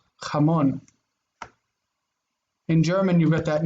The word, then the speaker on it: jamón: It's not jamón like in English ha, it's ja, jamón.